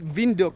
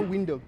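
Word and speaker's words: Windhoek: in namibia just arrived window how do you pronounce it it's vindok no window yeah window vendor is in africans oh benduk yeah we're about to hit the city it's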